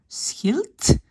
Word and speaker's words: schild: Mais donc, est-ce que ça c'est clair que si maintenant ici je vois le mot schild, en néerlandais, on prononce un T à la fin.